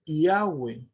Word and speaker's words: Yahweh: Entonces la pronunciación que más se asemeja a Yud Hei Bat Hei es Yahweh, Yahweh, ¿ok?